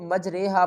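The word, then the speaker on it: مجراها: بسم الله مجريها ومرساها۔ اکثر لوگ اس کو مجریہا پڑھ تو لیتے ہیں، لیکن انہیں پتہ نہیں ہوتا کہ یہ کون سا قاعدہ ہے۔ اس قاعدے کو ہم ایمالا کہتے ہیں۔ اس کے ہجے ہم کس طرح کریں گے؟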